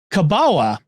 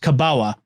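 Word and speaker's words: kabała: into common use in the Polish language as kabawa uh which is looks like it's an element but it's pronounced kabawa of course it must have come to common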